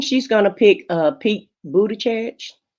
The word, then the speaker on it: Buttigieg: I think, James, I think she's going to pick Pete Buttigieg. Buttigieg, is that how you say his name?